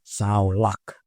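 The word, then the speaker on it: סלח: Tulisannya salak tapi bacanya saulak.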